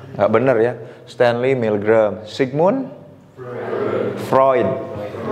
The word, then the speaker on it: Sigmund Freud: benar ya Stanley milgram Sigmund Freud bukan PR sigmun Freud gitu ya itu itu tuh penting